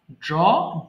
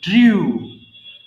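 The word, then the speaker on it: drew: এবার বলো, ড্র আঁকা, ড্র ড্রু ড্রন। এটাও কিন্তু ড্রু হবে, নট ড্রিউ।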